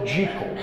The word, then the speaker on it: Jekyll: in into the culture dr jekyll was supposedly pronounced dr jekyll dr jekyll and mr hyde uh